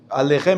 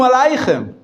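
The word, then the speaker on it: עליכם: This is the Sephardic pronunciation. An Ashkenazi Jew, my grandfather, he would never say Shalom Alechem. He would say Shalom Aleichem. Shalom Aleichem. It's a different pronunciation. Instead of Shalom, Shulem. Instead of Aleichem, Aleichem. Different. It's the same word. Pronunciation is different.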